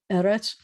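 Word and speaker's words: ארץ: I told you that anything that has two es together, is the accent's going to be on the first syllable. Eretz.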